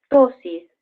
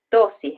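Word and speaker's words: ptosis: lo que Nosotros llamamos tosis que se escribe con p primero con p tosis en realidad es es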